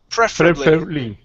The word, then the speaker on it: preferably: Preferably. Good. Stress at the very beginning.